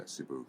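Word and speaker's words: Cebu: here we went with cibu cibu CBU they pronounce it cibu Pacific cibu Pacific cibu Pacific and um it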